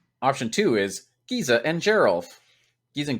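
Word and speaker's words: Geralf: two is Giza and Gerald geez and garof sorry geralt I always get that one wrong that's a soft G on them Giza and garof two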